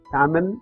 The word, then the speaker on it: Tamil: This can be split into three syllables. The first syllable has a consonant T and a vowel A. The second syllable has a consonant M and a vowel I. Whereas the last syllable is a consonant without a vowel. That's why it has to be pronounced with a stop. That is, it ends there.